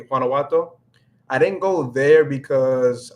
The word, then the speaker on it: Guanajuato: So I thought about going to Guanajuato.